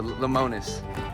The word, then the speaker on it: Lemonis: you pronounce it? Marcus Lemonis. Oh, Lemonis.